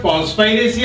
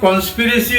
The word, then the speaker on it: conspiracy: अब ये word कॉन्स्पायरेसी आप बोल सकते हैं, इसको कॉन्स्पिरेसी भी बोलते हैं.